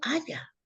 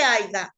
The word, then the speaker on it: haya: se dice aiga Entonces le digo aiga no se dice se dice haya Ay no mi mamá dice haiga Mire mi mamá dice